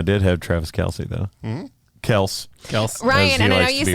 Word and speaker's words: Kelce: Kels. Ryan, he and I know likes to you be say pronounced.